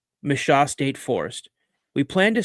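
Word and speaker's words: Michaux: Pennsylvania to camp deep in the I can't pronounce it. M I C H A UX. Misha. I want to say Misha. Mishaw State Forest.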